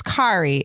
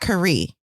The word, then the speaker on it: Kari: Yeah, so my name is Kari. It's not Kari. That means the emphasis is on what? Car. Right. K-A. Kari.